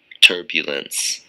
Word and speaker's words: turbulence: turbulence turbulence turbulence turbulence and make sure you finish the NCE sound instance like chance turbulence three syllables and the stress is on the first syllable turbulence turbulence turbulence it's